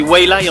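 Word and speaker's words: 蔚来: hier le constructeur nippo dont le nom se dit why lie en chinois et qui se prononce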